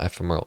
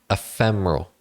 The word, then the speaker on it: ephemeral: quick side note guys it's not FML it's ephemeral ephemeral okay I'm really bad at pronunciations but I don't it doesn't matter but I'm just saying I have been saying that wrong um anyways let's continue